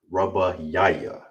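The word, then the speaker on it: רביעי: And how you say it is ra ba ya ya. Ra ba ya ya. That's how you say fourth.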